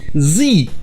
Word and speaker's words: Z: vous le savez probablement la lettre z en anglais ça se dit zii vous l'avez sûrement déjà entendu dans un film mais ça c'est parce que c'est la prononciation américaine mais dans les autres pays anglophones ça se dit z ça c'est parce que ça vient du français et de la lettre grecque l'état essaie ensuite les